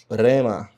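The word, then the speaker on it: ῥῆμα: Por exemplo, uma palavra muito conhecida no grego é a palavra, essa palavra aqui rema. Rema significa palavra. Nós temos então uma marca de aspiração forte aqui, porque ela começa com a letra r.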